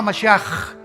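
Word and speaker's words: משיח: Se escribe Mashiach. Jesús el Mesías en el hebreo. Pero se pronuncia la CH. Yeshua Mashiach.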